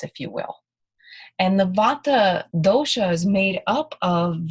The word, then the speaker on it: Vata: first one is called Vata is the correct pronunciation Vata is the principle of movement of motion in